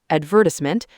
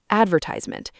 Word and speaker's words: advertisement: Another big one, advertisement. British, advertisement. American, advertisement. Different stress on completely different syllables.